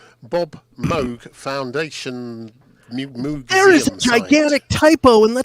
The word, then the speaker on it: Moog: mum is it mum Moog rhymes with Vogue museum museum mum you